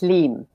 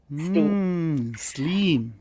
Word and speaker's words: Slim: Okay, so first of all, my name sounds American because it's Slim, but it's actually pronounced Sleem. Sleem.